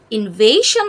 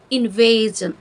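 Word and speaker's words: invasion: এখানেও এস আই ও এন যুক্ত হয়েছে তবে উচ্চারণটা আসলে ইনভেশন হবে না ইনভেজন যখন এস আই ও এন এর আগে ভাওয়েল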